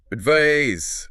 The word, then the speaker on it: advise: Advise. S. Right. Crisps. But advise, verb, ends with a Z sound, like wise.